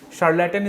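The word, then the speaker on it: charlatan: शार्लेटन इज the next word, शार्लेटन। Fine, शार्लेटन, तो इसको pronunciation आप SH से करोगे।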